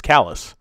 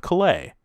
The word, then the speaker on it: Calais: Vermont in Washington County it has pronunciate at his Calais and not the French Way of Calais even though it's named after the same city within Calais as the